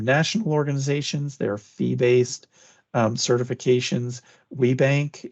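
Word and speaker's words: WBENC: WeBank is how we commonly pronounce it.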